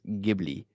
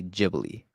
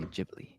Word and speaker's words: Ghibli: And in Italian it's pronounced Gibli. Okay. But in Japanese they say Jibli. So if we're talking about the studio you should say Jibli.